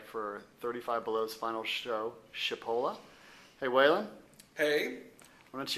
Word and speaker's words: Chipola: so those people who don't know how to pronounce it it's chipola but of course people pronounce it all kinds of ways chipola chapala chipotle chipotle so uh it's it's really not